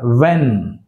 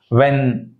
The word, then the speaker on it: when: When, W pronounced here, not the H. When, what, right?